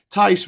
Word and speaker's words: Tice: Tice rhymes with lice.